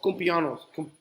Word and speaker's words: cumpleaños: Feliz cumpleaños. I can't say cumpleaños. How do you say that? Cumpleaños. Oh, like annuals. I get it. Cumpleaños. Años. Like años. Años.